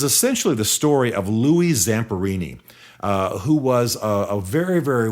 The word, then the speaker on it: Zamperini: She just She just was telling this amazing story of Louis Zamperelli, who by the way, I'm sorry, Zamperini is the way it should be pronounced, and he's still alive.